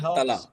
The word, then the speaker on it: Tala: So what does Tala do? Is that how you pronounce it? Tala.